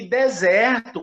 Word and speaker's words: desert: E deserto, como do Atacama, do Saara, é a primeira que é tônica, é desert.